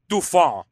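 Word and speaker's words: dauphin: line to the crown of France it's actually pronounced duon but I said it looks like dolphin thank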